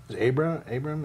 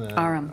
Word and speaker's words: Aram: and that Abram, is that his name? Aram.